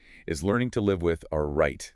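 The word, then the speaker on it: arete: Okay, so the absolute core, the heart of it, is learning to live with a right. A right. How do you spell that?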